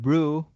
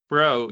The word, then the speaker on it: BREU: A lot of people said brew, but it's fine. It's BREU. Bro, yes, Bro Shadow Uh-huh.